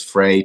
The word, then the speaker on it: Frais: r a i s the S is silent um but yeah Frey Church awesome uh yeah